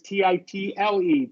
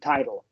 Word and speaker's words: title: sorry, FYI, I didn't mean to interrupt, but number 14, title, is Yeah. gonna sound exactly the same as title, title, right? Oh, okay. Yeah, because of the flap. Yeah, flap T.